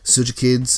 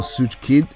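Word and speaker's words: Tsujik: I just realized that I should have used Sujikid's or Sujikid, no, Sujik, that's how you pronounce it.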